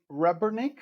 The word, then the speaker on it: Rebernik: So today I'm speaking with Christian Rebernik. Did I pronounce this correctly?